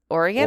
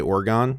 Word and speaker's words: Oregon: you're from Portland Portland Oregon or main oh wow also nailing the let me just say for the record nailing the Oregon pronunciation also at New York New Jersey people say orgon very upsetting oh yeah yeah no